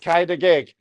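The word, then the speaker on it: Cau dy geg: And she said, Kaida gig.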